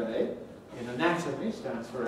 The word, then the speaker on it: anatomy: that with the spelling the letter a at the beginning of anatomy stands for schwa but at the beginning of anatomically it stands for the second letter a in anatomy stands for n but